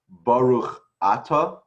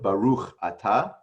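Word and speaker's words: בָּרוּךְ אַתָּה: So the emphasis is in Ashkenazi is generally on the penultimate syllable, like you say Baruch Ata instead of Baruch Ata.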